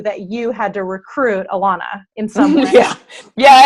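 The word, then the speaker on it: Elana: And then your pilot in your bobsled, I don't want to butcher it. Alana. I was like, I know I'm going to say it wrong. Yeah, everybody calls her Elena. I know, and I was about to do that, and I knew that was wrong.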